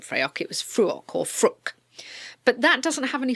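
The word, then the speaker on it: Fraoch: I believe it's pronounced fru okay um get a hold of some of that it looks like it's it's spelled f r a o c so it looks like freyo and I'd been calling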